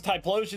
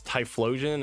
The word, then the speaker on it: Typhlosion: it's Typhlosion and not Typhlosion.